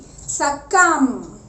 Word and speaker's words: succumb: S-U-C-C-U-M-B, succumb, succumb. I hope it is clear. Rule number 1. What does the rule number 1 say? That whenever we see a M before a B, it remains silent.